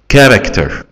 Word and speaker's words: character: character. السي اتش هنا اتنطقت كي، والسي هنا برضو كي.